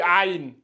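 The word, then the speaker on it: عين: lui il se lit Aï Aï c'est ici au niveau de la gorge on doit sentir a a donc souvent on le confond lui avec le a on verra ça plus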